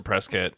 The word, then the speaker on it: Prescott: it prescott i don't it's spelled prescott but i believe they say prescott i think they pronounce a press kit and it is yeah